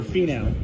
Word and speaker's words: Finau: You got Hudson Swafford, Fresh Foundations, Tony Finau. I don't even know how to pronounce that. I'm not even going to attempt it. Oh, Finau.